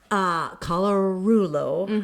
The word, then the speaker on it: Colarullo: And this young lady, Colarullo, am I saying it right?